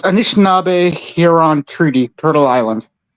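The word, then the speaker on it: Anishinaabe: our indigenous uh expert uh NJ uh please pronounce those those words correctly for me. Uh so it's Anishnab Hon Treaty Turtle Island.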